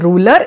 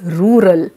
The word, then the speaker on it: rural: in your speech so it is not rule ruler it's rural so you have to go